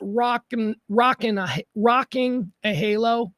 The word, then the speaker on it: Rock and a Halo: Rock, and so it's pronounced rocking a halo, but it's rock and a halo.